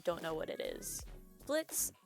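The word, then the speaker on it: Blitzø: know what it is Blitz (the o is silent), an imp, has started up a company in hell called Immediate Murder Professionals, or I.M.P.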